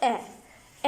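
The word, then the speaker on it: et: लज आ जाता है ए ई टी लिखा होगा लेकिन इसको हम प्रोनाउंस करते हैं ए ए अब आप इस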